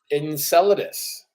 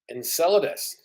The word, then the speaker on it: Enceladus: knew I should have looked up how to pronounce this and enus and salus say it again computer Enceladus Enceladus uh Enceladus is a moon that orbits Saturn